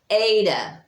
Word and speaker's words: eta: And then we have your long E, which is actually pronounced as an A sound, as in they. So that is just like our N has a little tail. Eta.